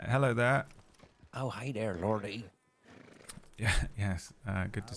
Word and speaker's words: Lorde: It's Lord with an E on the end. That's how it's spelled. But uh I must have introduced myself as Lordy or Lord with me. You can just say Lord.